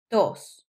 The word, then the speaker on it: tos: Cough is tos. Tos. Sounds like dos.